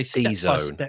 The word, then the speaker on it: DZone: Uh staying with the subject of lambda uh this is uh an article uh on Done I think it's pronounced uh which is a DZone I think.